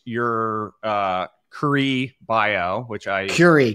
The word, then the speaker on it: Curie: So so last we spoke you were you had publicly launched your Curie Bio which I Curie Curie Curie. God damn Like Marie Curie.